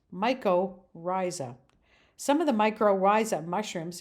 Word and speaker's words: mycorrhizae: live plant roots for its nutrition and it's pronounced mycorrhizae some of the microriza mushrooms include favorites such